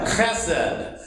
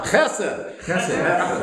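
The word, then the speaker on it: חֶסֶד: Now, you don't clear your throat and then say the word. It's all one. Chesed.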